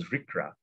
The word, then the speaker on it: RCRA: The Resource Conservation and Recovery Act, pronounced as RCRA, gives EPA the authority to control hazardous waste from cradle to grave.